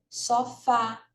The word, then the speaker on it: sofá: Como na palavra sofá, sílaba tônica é a última.